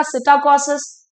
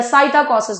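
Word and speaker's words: psittacosis: आते हैं साइट कोसिस पी साइलेंट रहेगा सिटा कोसिस या साइट कोसिस भी आप पढ़ सकते हैं साथ ही साथ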